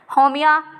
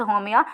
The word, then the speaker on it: Haumea: Sirsa, iris, होमिया, I think pronunciation is the same, which is Haumea, are some of the other dwarf planets।